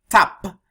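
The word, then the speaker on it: t ap: Te ap, which is abbreviated with T space AP, which is pronounced tap, because two vowels cannot be next to each other. So tap is the correct pronunciation and correct spelling.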